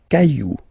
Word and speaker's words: cailloux: Okay, then un caillou, plural, des cailloux. Okay, remember, you don't pronounce it, the final X. Then un chou.